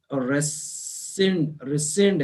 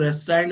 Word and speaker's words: rescind: और दूसरा है रिसेंड है। अब इसको कई लोग रेसाइंड बोल देते हैं, रिसेंड, ARE, है ना, RESCIND, रिसेंड है इसका प्रोनाउंसिएशन।